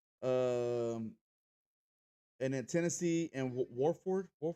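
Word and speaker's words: Wofford: Um, and then Tennessee and Warford. How do you say that? Wolford.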